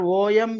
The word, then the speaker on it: Om: you can write r o m you can write AUM you can write whatever totally pronunciation will be om second card your family